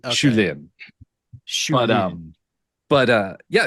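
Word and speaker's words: Shu Lien: you Lee you yeah I definitely pronounce too much of the e in shulin but um but uh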